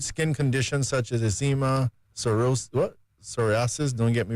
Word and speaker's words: psoriasis: Helps treat skin conditions such as eczema, psoriasis. Don't get me right in the pronunciation. Psoriasis.